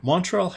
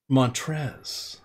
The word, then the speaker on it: Montrezl: of these turrets Oh Montrell Harrell montrezl harrell mantras all her Ezell going against Cleveland the L is silent montrezl there we go thank